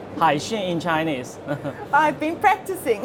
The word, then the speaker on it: Hexing: Today I am with Robert Liang, who is the CEO of Hexing, South Africa. Welcome, Robert. Hi, good morning, Nicolette. Yeah, very good pronunciation. Hexing, Hexing in Chinese.